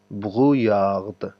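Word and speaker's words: brouillard: داسې ویلی شئ ایلیادو بغویاغد. دا داسې تلفظ کېږي بغویاغ. صحیح دی؟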